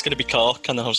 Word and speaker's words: Cork: When you read the answers out, I thought, it's going to be Cork, and then I was like, no, I'll stick with my original one. Or never mind. As the locals pronounce it, Cark.